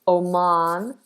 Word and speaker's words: Oman: American and British Aman okay so Americans do more of an O Oman Oman whereas British is Oman Oman Oman Oman Oman